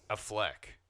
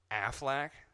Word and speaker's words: Affleck: a Fleck. People pronounce it like that. Is that like a joke? Like the fucking duck, Affleck.